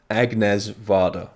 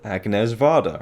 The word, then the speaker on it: Agnès Varda: i should say is her name agnez vada right that should be how you pronounce it and uh i always thought you know from the get-go agnes vada right that's her name